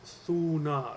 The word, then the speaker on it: Thunar: The original Germanic name for Thor is Thunar. It comes from two two syllables, thu and nar.